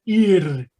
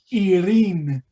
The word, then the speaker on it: ir: Pero si lo vamos a pronunciar, es la letra I, la letra Y y la letra R, ir, en singular, y en plural, irin.